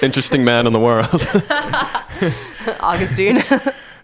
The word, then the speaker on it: Augustine: man in the world Augustine uh or as many Americans say Augustine uh but because I